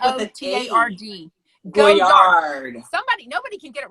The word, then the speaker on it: Goyard: Oh, Gotard. Gotard? I thought it was like with a T-A-R-D. Goyard.